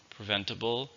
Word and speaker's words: preventable: Preventable means something that you can stop from happening. It's an adjective. How many syllables are in preventable? There are 4, stresses in the second.